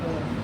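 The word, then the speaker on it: -one: लिए सफिक्स आता है ओन। इसको वन नहीं पढ़ते, इसको ओन प्रोनाउंस करते हैं, ओन।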